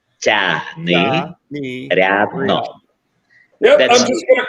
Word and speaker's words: Tiagnyriadno: Tiagnyriadno. Tiagnyriadno.